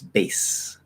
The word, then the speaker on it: bass: that is an s that's not a z it's bass it says the b is voiced all vowels are voiced um so we get voiced voice and then the e at the end is silent of course but the s is voiceless so a s bass it becomes voiceless so vibration until the s okay that's how it